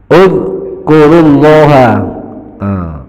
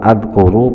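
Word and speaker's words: اذكروا الله: sudah pernah dijelaskan ya uzkurullah bukan adkuru bukan idkur uz kurullah karena huruf yang ketiga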